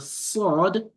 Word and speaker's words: ص: So the learning of the tajweed makes you to know, oh, the sin is pronounced with the open mouth, and the sod is pronounced with a round mouth.